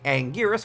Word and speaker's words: Anguirus: The new Godzilla costume and a new monster, that being Anguirus, which will be how I say it because that's the right way to say it.